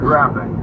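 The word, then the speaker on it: Grafix: Graphics is spelled G-R-A-F-I-X. Left Turn Graphics.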